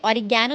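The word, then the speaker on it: oregano: आप इसे ऑरिगैनो भी कह सकते हैं। अमेरिकन प्रोनाउंसिएशन में आप इसे कहेंगे ऑरिगनो, और ब्रिटिश प्रोनाउंसिएशन में आप इसे कहेंगे ऑरिगैनो।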